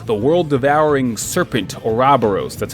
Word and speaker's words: Ouroboros: Villain is revealed the world devouring serpent or Robos that's how they pronounce it in the game and if I